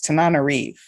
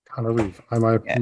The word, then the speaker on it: Tananarive: I will correct the pronunciation of my name because it's a little challenging. It's Tananarive. Tananarive.